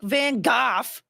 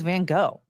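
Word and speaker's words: Van Gogh: So, I feel like Van Gooff would have told us that that was his name, but he didn't. He said it was Van Go.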